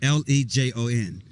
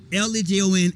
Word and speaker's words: Lejon: Number one thing I have to say, by the way, Lejon is spelled Lejon. And it can be pronounced Lejon. In Lejon in Sweden means lion. So okay, yeah, Lejon. It's pronounced Lejon.